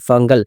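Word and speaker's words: Fengal: রয়েছে ঘূর্ণিঝড়ের নাম হচ্ছে ফাঙ্গাল ফাঞ্জাল ফাঞ্জাল কোন কিছুই নয় যেসব মিডিয়া বলছে ফাঞ্জাল ফাঞ্জাল এগুলো কোন কিছুই ঘূর্ণিঝড়ের নাম নয় ঘূর্ণিঝড়ের নাম হচ্ছে এফ এ এন জি এ এল ফাঙ্গাল এই ঘূর্ণিঝড়ের নাম দিয়েছে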